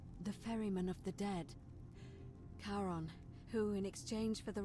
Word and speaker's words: Charon: It's just as you described it, only your pronunciation is a little off. The name you heard wasn't Karen. It was C-H-A-R-O. As in Charon, the ferryman of the dead. Charon, who in exchange for the right coin, helps